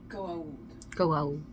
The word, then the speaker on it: Goa'uld: There should be an apostrophe after the A before the U. It's pronounced... Go out.